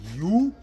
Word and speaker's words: Ubuntu: It's spelled U-B-U-N-T-U.